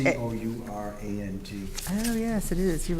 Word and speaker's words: Courant: It should Oh, be it's a- C-O-U-R-A-N-T. Oh, yes, it is. You're right about I'm that. sorry, can you say that again? The Hartford Courant is spelled C-O-U-R-A-N-T. Thank you. Pronounced current, but Yeah, That's right.